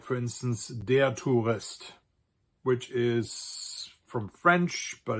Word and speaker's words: Tourist: So you have words like, for instance, der Tourist, which is from French, but it's also spelled the same as the English word. So in this case, you have OU, which